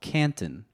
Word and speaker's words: Canton: Yeah, I'm from what you would call Canton. Canton. But I say Canton. Canton. would Canton, Connecticut.